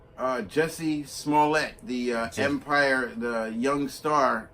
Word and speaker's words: Jussie Smollett: That's how you pronounce his name. Let me take it. So Jussie Smollett alleged that he was first there was a letter.